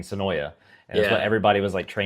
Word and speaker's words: Senoia: It's Senoi. I'm used to calling it Senoia because we all called it Senoia for like 2 years, and then all of a sudden somebody's like, "It's pronounced Senoi."